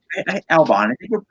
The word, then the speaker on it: Albon: Did I pronounce it right? Yeah, Alexander Albon. Albon.